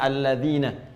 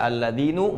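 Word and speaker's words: الذين: Karena itu dibacanya alladzina. Kita tidak baca alladzinu, nggak ada alladzini, selalu mabni, tetap dalam harakat ini.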